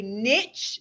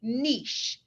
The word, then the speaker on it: niche: niche you can say niche that rhymes with rich or you can say niche both ways are correct whatever is clever for you you say that okay so i say niche because it rhymes with